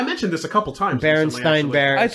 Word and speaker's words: Berenstain: what I heard, and everyone said Berenstain. No one said Stain. Yeah. And that was the end of it. But it's spelt with an A and everything.